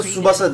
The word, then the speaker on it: Tsubasa: Tsubasa Tsubasa diye okunuyormuş.